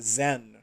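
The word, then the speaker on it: Tzen: the way to to zen the t is silent it's probably silent tazen no okay made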